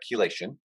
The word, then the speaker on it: chelation: this process we call chelation that's how you pronounce that chelation okay and the thing that does that is